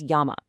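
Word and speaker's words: 山: Its anomi is son or zan, and its native kunomi is yama.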